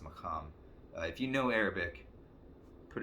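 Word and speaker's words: maqam: tradition the arabic maham i believe it's pronounced macam if you know arabic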